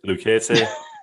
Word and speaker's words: Lucchese: Lucchese?